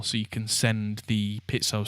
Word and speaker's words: piezo: owie because it's not piezo it's pit so it's an Italian word that's how Italians pronounce it that's my final word